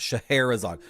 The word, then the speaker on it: Scheherazade: Hera is part of it. Scheherazade. The Hera like Zeus's wife. That's the linchpin to pronouncing it because the emphasis is on Hera. Scheherazade. The sh is just sh. It's just the sh.